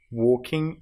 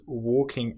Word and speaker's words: walking: So the next exercise, I like walking and talking. Now you'll notice that in both of these words, walking and talking, we have the L, which isn't produced.